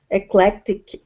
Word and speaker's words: eclectic: The Eclectic the the the C is silence the the first SE no they're both pronounced eclectic all three okay eclec eclectic all three are pronounced and all three are the k sound letic yeah very tricky